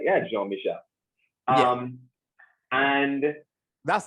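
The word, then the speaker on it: Jean-Michel: I pronounced it right? Yeah, Jean Michel.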